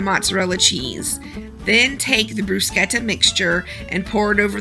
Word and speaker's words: bruschetta: top of our casserole I say brushetta because I'm from the South but most people say brusketta which is the correct Italian pronunciation but uh you're going